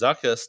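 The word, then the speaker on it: Zuckuss: talking about gleason uh wendy says zuckus to rhyme with ruckus and watch out because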